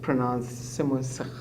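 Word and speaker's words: Simonsig: It's pronounced Simonsek. Okay. Simonsek, it's a Afrikaans stem.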